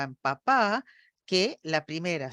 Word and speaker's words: papá: para comer y que papá me signifique otra cosa? Bueno, la primera es papá. Fíjense que en la segunda sílaba es más prominente que la primera porque hay un cambio en la F0.